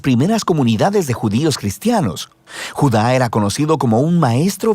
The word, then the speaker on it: Judá: carta de Judas o más precisamente Judá de acuerdo con la pronunciación de su nombre tanto en griego como en hebreo Judá Era uno de los